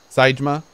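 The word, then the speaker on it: Saejima: The Jima in Seijima and Majima are both pronounced the same, soft eyes. Seijima, Majima.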